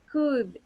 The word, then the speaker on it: could: teacher okay yeah so when you say could you omit the letter l we don't pronounce the letter l it's not good okay and the other